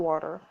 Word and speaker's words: water: Shows up a glass of water. Wait, what? Hard T, drop R. Water. Exactly, hard T sounds and drop R sounds very posh.